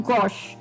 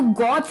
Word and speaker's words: gauche: तो वो वर्ड है गॉश, गॉश, और स्पेलिंग है GAUCHE। तो गॉच नहीं है, इसकी प्रोनाउंसिएशन है गॉश, CAUCHE, गॉश। तो गोश, GAUCHE, गोश, ये प्रोनाउंसिएशन गॉश है, गॉच नहीं है, CHE का श आवाज आ रही है यहाँ पे, सो गॉच, CAUCHE, गॉश।